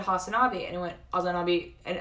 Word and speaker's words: Hasanabi: But I think it's like Azan, and then you say and then the word B, like it's a B, like B, you know.